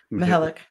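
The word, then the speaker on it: Mihelich: And then with, how do you pronounce Mihalik? Mihalik.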